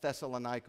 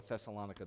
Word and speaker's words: Thessalonica: 2, the theory was brought to life by this man from the letter to the people at Thessalonica or Thessalonica, depending on how you want to pronounce it.